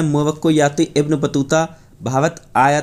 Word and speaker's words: इब्न बतूता: मेरे पैसा थे मैं बाबा क्या हूँ, ये गलत लिख गया, मिसप्रिंट हो गया, इन बतूता नहीं है, इब्न बतूता होगा। ये मैं आपको बता देता हूँ, इब्न बतूता, यहाँ पर आप समझ लीजिएगा, ये होगा इसका प्रोनाउंसिएशन।